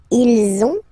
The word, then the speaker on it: ils ont: And the last one, so same thing, if you can see, you get this final S and final S here, okay? And then you will have to make the little link between the two. Ils ont, ils ont, ils ont.